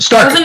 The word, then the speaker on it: STRQ: Or Stroke, however you pronounce it. STRQ. I want it. Stark. Thank you.